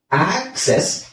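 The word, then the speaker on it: access: ಅಲ್ಲಿ ತುಂಬಾ ಕನ್ಫ್ಯೂಸ್ ಆಗಬಹುದು ಯಾಕೆ ಅಂತ ಹೇಳಿದ್ರೆ ಇಲ್ಲಿ ಏನಿದೆ ಎ ಸಿ ಇಲ್ಲೂ ಅದೇ ಇದೆ ಅದೇ ಅಕ್ಷರ ಇದೆ ಬಟ್ ಪ್ರೊನೌನ್ಸಿಯೇಷನ್ ಅದೇ ಅಕ್ಷರಗಳು ಬಟ್ ಪ್ರೊನೌನ್ಸಿಯೇಷನ್ ಚೇಂಜ್ ಇರುತ್ತೆ ಆಕ್ಸೆಸ್ ಇಲ್ಲಿ ಆಕ್ಸೆಸ್ ಇಲ್ಲಿ ಅಕ್ಸೆಪ್ಟ್ ಅಕ್ಸೆಪ್ಟ್ ಆಕ್ಸೆಸ್ ಸೋ ಆ ಅದು ಹೇಗೆ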